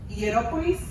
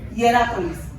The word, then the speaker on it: Hierápolis: Si se imaginan a la Odisea y esas ciudades, que es, yo sé que voy a leer una mal, Hierópolis y la otra es Colosas. Imagínense, ¿cómo se dice? Hierápolis.